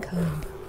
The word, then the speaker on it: comb: This comb, I love saying comb, because the B in comb is silent. Silent B. Silent B.